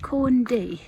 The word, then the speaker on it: Corn Du: That's the summit of, apparently it's pronounced Corn D.